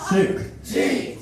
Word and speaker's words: Sukhjit: So when I say Suk, you say Jeet. Suk. Jeet.